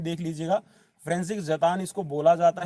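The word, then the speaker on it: František: मैं दोबारा से लिख रहा हूं आप इसकी स्पेलिंग देख लीजिएगा फ्रेंस जतानी इसको बोला जाता है और लिखने में ये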